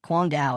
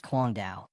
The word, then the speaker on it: Kuang Dao: I'm asking for the Before he could finish, the young man quickly shouts, "Quang Dao. It's Kuang Dao.